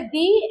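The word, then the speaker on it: the: जब भी कोई वर्ड वावेल से स्टार्ट हो तो समझ जाइए कि हम इसका जो प्रोनाउंसिएशन है वो क्या करेंगे? डी, यानी दी एंड पढ़ेंगे।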